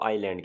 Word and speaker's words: island: जजीरा होता है, ऐसी ज़मीन का ऐसा टुकड़ा जिसकी चारों तरफ पानी हो, उसको आइलैंड कहते हैं। इसमें एस साइलेंट होता है।